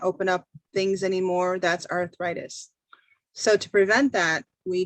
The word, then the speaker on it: arthritis: Like arthritis. Yeah. In English, we say it like an I, so arthritis.